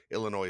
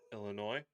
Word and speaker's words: Illinois: right class fuss all that stuff ends in s and isn't plural Illinois is one of those it's not Illinois Illinois just Illinois just Illinois okay man is there any